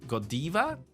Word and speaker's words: Godiva: Belgium yeah so uh they pronounce these words more in English so it will be Godiva oh Yesa yes not Godiva but again in America if you say Godiva same chocolate brand you go to Europe maybe go diva or in Taiwan go diva fine not a big problem